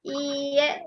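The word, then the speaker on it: いいえ: Jepangnya hai hai hai Hai kemudian kalau tidak iye ini ih ee bisanya eek dibacanya iye itu selesai high Sinshe iptek kudasai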